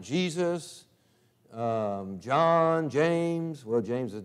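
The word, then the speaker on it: Jesús: But in Spanish, it's pronounced Jesus.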